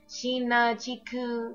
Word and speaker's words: Shinachiku: for foreigners to pronounce sheena chiku is not that hard is no different from chica mario or all other ones but whatever